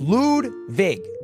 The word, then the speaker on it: Ludwig: My name is pronounced Ludwig. It's the correct pronunciation. I think my grandfather's German. I'm not sure. Ludwig. Guys, it's not spelled L-E-W-D. It's L-U-D-W-I-G. It's just pronounced Ludwig.